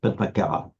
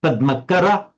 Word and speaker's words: Padmakara: She pronounced it in very French way, Padmakara. Yeah. And I said, I was speaking to her in French, but I said, do you mean Padmakara, the akur, the short a, or Padmakara?